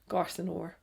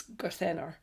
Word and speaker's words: Garthenor: Because I think a lot of people call it Garthenor, and it's not, it's Garthenor. And I said, I was calling it Heulwen, and he said, no, it's Heulwen.